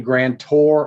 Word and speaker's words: grantor: look in the grant i'm saying grand tour on purpose so it rhymes with sell ore because people get those two words mixed up all the time the grantor is the